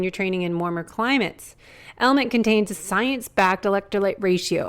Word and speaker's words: LMNT: our sponsors lmnt element it's spelled l MNT but pronounced element if you haven't heard about this element is a tasty electrolyte